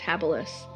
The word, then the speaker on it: habilis: I mean, the woolly mammoths, the Cro-Magnons, the Homo habilis, and it's pronounced habilis.